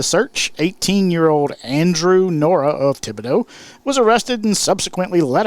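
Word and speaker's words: Thibodaux: uh host era right i know how to pronounce thibodeau louisiana it's part of a song wow he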